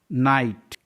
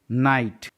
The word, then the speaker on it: knight: नाइट, KNIGHT, नाइट, यहाँ पास के के बाद एन है इसलिए गाइज के साइलेंट है। इसके पहले हम लोग ने देखा था कि GH साइलेंट होता है जब उस किसी वॉल के बाद है, तो आई है, आई के बाद GH है तो GH भी साइलेंट है।